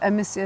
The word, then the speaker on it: Amicia: I will now call it Amicia zygomeris now that I know, because the C is after an I, it should be soft.